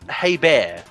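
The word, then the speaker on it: Hebert: I've heard it's pronounced hey bear uh I wouldn't be I wouldn't be surprised cuz I think it's French in origin um he's also the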